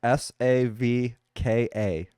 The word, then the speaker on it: Savka: I'll spell it out for you. It's okay. SAVKA.